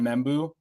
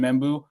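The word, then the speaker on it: Membou: I haven't seen any film on Membu. I think is that how you pronounce his name? Yep. Armin Membu.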